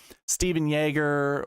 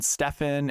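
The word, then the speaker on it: Stephan Jaeger: Steven Yeager, which a lot of people are calling Stefan, and Yager.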